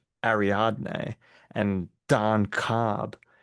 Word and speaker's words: Ariadne: Ariadne. Ariadne and Don Cobb.